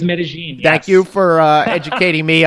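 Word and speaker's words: Medellín: I thought it was Medellin, not Medellin. So thank you. It is Medellin.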